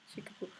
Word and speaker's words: Shikibu: Shikibu, who is from the 10th and 11th century,